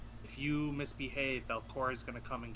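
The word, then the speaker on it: Belcora: you, you might have heard stories uh about Belora. It's just kind of like a How do you spell it again? Mothers children. Huh? How do you spell it? Uh, B E L C O R A. Belora.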